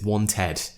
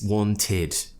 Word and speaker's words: wanted: people think that it's wanted but it's wanted wanted in this situation to imagine it's spelt tid that's how we pronounce it tid tid wanted I went